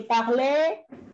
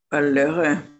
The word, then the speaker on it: parlerai: infinitivo y las terminaciones, mucha gente dice parlé y se queda ahí suelto con la final de la ahí. ¿Bien? Acá la parleré. Claro, es parleré. Sí, sí. ¿Bien? Porque acá sí suena la ER porque es ER final, pero acá ya no es final.